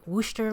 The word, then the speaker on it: Worcester: I finally pronounced it Worcester like you guys have been telling me to instead of my usual butchery.